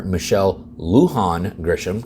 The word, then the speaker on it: Michelle Lujan Grisham: is New Mexico because last week after Governor Michelle Lujan Grisham got the pronunciation right thank you to all my viewers